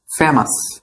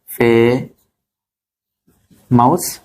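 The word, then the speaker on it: famous: ঠিক আছে মোট কথা শব্দের শেষে ও ইউএস থাকলে উচ্চারণ কি হবে আস ফেমাস ডেঞ্জারাস ভেরিয়াস আরেকটা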